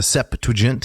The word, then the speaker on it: Septuagint: So I'd like to read a little bit of the Septuagint here. Notice 3 syllables. The Septuagint.